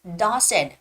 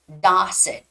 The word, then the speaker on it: Dawson: read it Blake Blake Dawson now when you're you know pronouncing the word Dawson don't say Dawson no you have to open up your jaw so it's gonna be Dawson okay Dawson okay we're